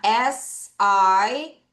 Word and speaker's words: sight: see는 뭐에 대한 거냐면 sight. 바로 시력입니다. 내가 볼 수 있는 능력이 있는가 없는가가 바로 C가 되는 거예요. 자, 요거 따라 할게요. sight. 다시 sight. 얘들아, GH가 있으면 어우 발음이 이랬죠?